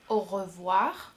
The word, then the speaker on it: au revoir: A plus U, A plus U makes O in French, like O, au revoir. And O plus I, O plus I, makes wa, wa.